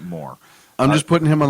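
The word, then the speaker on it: Mohr: I'm pronouncing it Moore.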